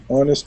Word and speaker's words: honest: sound can is an honest person the H at the beginning of honest is silent that is an ugly